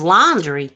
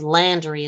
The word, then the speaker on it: Landry: Brian search Landry Brian Landry is laundry ain't it laundry we call it Landry out here but laundry no my nephew's last name is Landry it's spelled l a n d r y not laundry I'm just